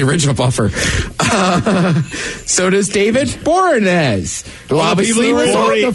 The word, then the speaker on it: Boreanaz: So does David Boreanaz, who obviously was on the first show.